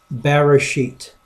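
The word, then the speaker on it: בְּרֵאשִׁית: one verse one and the way that people typically pronounce this in the beginning as bearer sheet that's how they pronounce it but you could break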